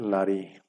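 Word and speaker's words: לַאֲרִי: aquí tendríamos un segol en este caso es un pataj por eso es el pataj eh la vocal que lleva la preposición Entonces se va a leer lari Cómo se va a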